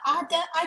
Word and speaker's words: Adai: Ada, I don't want to pronounce your name wrong. I'm sorry, I'm not good with pronunciation, sir. How do you pronounce your name, sir? Adai Adai. Adai. Adai, yes.